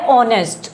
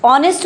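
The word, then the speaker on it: honest: नेक्स्ट word हमारा है ऑनेस्ट। ऑनेस्ट बोलेंगे इसको। ऑनेस्ट नहीं बोलेंगे। एज साइलेंट रहता है इसका। ऑनेस्ट बोलते हैं इसको और ऑनेस्ट का मीनिंग होता है ईमानदार।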